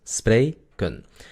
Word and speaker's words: spreken: Entonces tenemos 2 sílabas. Spray, kun.